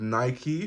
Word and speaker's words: Nike: In the UK we say Nike, but the correct way to say it is Nike because it's named after the Greek goddess.